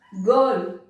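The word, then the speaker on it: girl: गर्ल, गर्ल के बाद में आई आया तो रूल तो कहता है कि गर्ल की जगह जर्ल होना चाहिए था, लेकिन ये तो गर्ल है.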